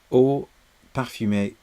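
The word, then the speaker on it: Eau Parfumée: that perfume really stretches my inability to pronounce French vowels properly, because of course we are supposed to call it, what is it? Eau Parfumee or thé vert.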